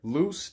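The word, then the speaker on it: lux: suffix fur means bear loose Lu x that is the Latin word for light Lu Zhi is the Spanish word for light but they're both pronounced loose so Lucifer is the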